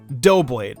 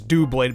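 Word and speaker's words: Doublade: bad break seein main dough blade I mean he looks like a cookie cutter right I know now though that it's due blade because of the two swords these are actually the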